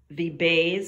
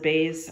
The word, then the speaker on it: Beis: and it is called The Bays I believe they pronounce it base I'm not sure b-e-i-s it'll be on